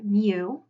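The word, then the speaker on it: μ: It's actually the Greek letter mu, and it's the Greek letter for their lowercase m. It's pronounced with the M sound, so it makes sense that the M would represent the population mean.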